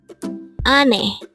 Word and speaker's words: 아내: at the angle word Number 96 Ane again it's Ane this pronounce is the two syllable word the first